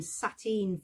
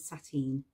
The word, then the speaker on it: sateen: And we're going to look at some patterns to match with working with sateen. Sateen is a cotton fabric, and although it sounds like the word satin, you won't get a really shiny finish.